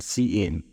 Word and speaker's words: cin: Its pronunciation is basically this: S-E-E-I-N, cin.